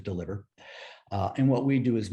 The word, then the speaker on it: DLVR: the ceo of deliver spelled with no vowels so dlvr but we pronounce it deliver and what we do